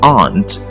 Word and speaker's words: aren't: rather it is pronounced aunt and it should rhyme with the word Aunt now and your aunt